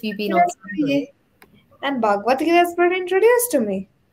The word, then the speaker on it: Bhagavad Gita: The Bhagavad, how do you pronounce this word? Yeah, it's Bhagavad Gita. Bhagavad Gita.